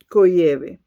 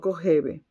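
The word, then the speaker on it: Kojève: Coyeb escribe K o J E V V V E, pero se pronuncia cove, no covebe. Cove, bueno, Cyve demostró que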